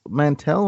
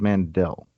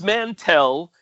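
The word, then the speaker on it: Mantell: it was a habit yeah so it's it's mantel or is it mandel it's it's mantel and harrison ford mispronounced it in that particular take of empire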